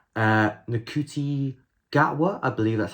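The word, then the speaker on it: Ncuti Gatwa: release, we have the 14th Doctor, and it's Nakuti Gatwa, I believe that's how you say his name, from Sex Education.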